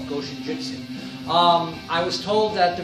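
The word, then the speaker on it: Goshinjutsu: When you pronounce it, you don't have to separate the go, go shinjutsu.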